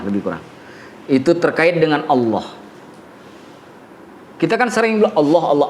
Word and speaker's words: الله: Enggak kan bacanya alam tapi Allah gak dibaca Allah dibacanya Allah berbeda dengan tulisan cuma satu-satunya dalam bahasa